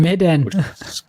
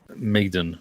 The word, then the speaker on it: Medan: Medan. There's an N at the end of that. Medan. I don't know how to say it. It doesn't feel like it's Maiden. Madden? Not Madden. Medan.